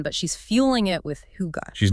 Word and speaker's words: Hugot: Pronounced Hugot.